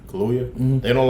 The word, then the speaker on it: Kaluuya: Kaluuya. Kaluuya.